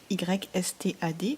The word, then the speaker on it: Ystad: YSTAD, voilà. En suédois, ça se lit Ystad.